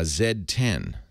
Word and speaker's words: Z10: just got uh a zed10 that's how you apparently how you're supposed to pronounce it cuz cuz Blackberry is a Canadian company so they pronounce this the zed1 it's the